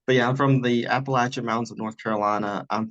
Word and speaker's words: Appalachian: So I'll go ahead and say first off, that's how you know someone's local if they pronounce it the Appalachian Mountains. It's not Appalachian Mountains like you see on television, everything.